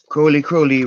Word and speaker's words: Crowley: Crowley rhymes with holy.